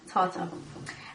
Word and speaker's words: tartar: I was trying to pronounce it. It's tartar.